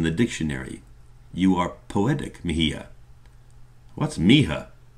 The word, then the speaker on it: Mija: You are poetic, Mihia." "What's Mija?" "Mihia," he pronounced it slowly.